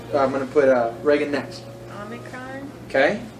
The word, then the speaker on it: Omicron: Omicron. Okay. And it says off, like log.